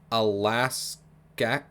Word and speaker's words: Alaxsxaq: The word Alaska comes from the Aleut word Alaskak. I'm really sorry, it's spelled Alaxsxaq. So I don't know, I'm